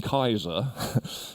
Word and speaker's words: Caesar: And you get the Greek version, the pronunciation would have been Kaiser.